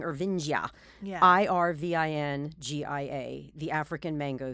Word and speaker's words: Irvingia: So it's Irvingia. That's why we're saying Ervingia.